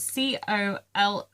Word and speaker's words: Coloris: It's spelled COLORIS threads. So I think it is Coloris, but it's the American spelling of colour.